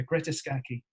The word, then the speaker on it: Greta Scacchi: Because I've never known how to pronounce that is exactly, yeah, that is, that I do know. I do know. Yeah, Greta Scacchi.